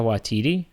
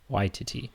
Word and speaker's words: Waititi: which I used to pronounce Taika Waititi, Mm. but if you hear him pronounce it, it's more like Waititi.